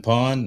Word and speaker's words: Pwned: I've been pawned. I think, yeah. Have I been pawned? That it doesn't, it's spelled weird, PWNED, but that actually is a